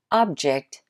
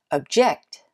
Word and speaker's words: object: rejected him poor man a similar pair of words like this is object and object an object can be